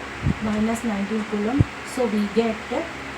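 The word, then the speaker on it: coulomb: charge is equal to Kum okay B is silent Kum small as short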